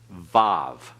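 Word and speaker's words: waw: yoda and remember that the Wow can also be called Bob okay put a V on each end of it that's modern Hebrew pronunciation that's not classical Hebrew pronunciation there's many reasons we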